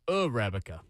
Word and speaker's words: Arabica: According to Google pronunciation, it's Arabica.